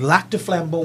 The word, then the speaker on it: Lac du Flambeau: So we're out there in Lac du Flambeau, Wisconsin, and it's about a 2-hour drive.